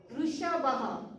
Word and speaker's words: वृषभः: Vrishabha. You have to pronounce the words orally.